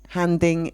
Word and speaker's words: handing: sometimes known informally as handing in your notice again the H is pronounced and the a is very open ah handing okay to employees were